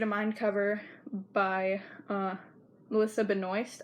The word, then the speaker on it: Benoist: So, next one is the New York State of Mind cover by Melissa Benoist, I think is how you say her last name, and Leah Michele.